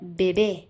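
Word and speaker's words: bebé: Okay, अब आता है बेबी, तो बेबी को हम बोलते हैं बेबे, बेबे, अब देखो ई पे एक्सेंट मार्क, तो क्या होगा, स्ट्रेस होगा, तो क्या पढ़ेंगे हम, बेबे, बेबे।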